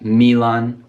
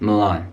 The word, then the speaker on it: Milan: And another Italian city, be careful with this pronunciation, Milan. It's not Milan, it's not Milan, just Milan.